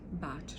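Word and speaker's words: Bach: as well such as batch remedies or back remedies depending on how you like to pronounce it um essential oils again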